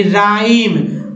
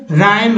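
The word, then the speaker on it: rhyme: तो दोस्तों इसमें RH में जो है R के बाद H का उच्चारण नहीं करना है, क्या पढ़ना है, R को पढ़ना है, उसके बाद पढ़ना है, यानी राइम, रिद्म, रेटोरिक या रैप्सोडी।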